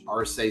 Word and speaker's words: Arce: My Instagram handle is Arce Sculpture on IG.